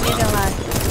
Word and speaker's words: Maryland: Oh, Maryland. Yo. Like Mary, like the Virgin Mary.